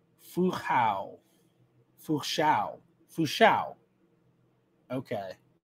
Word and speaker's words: Fu Hao: Ah, so the final syllable rhymes with how. So it'd be Fu Hao.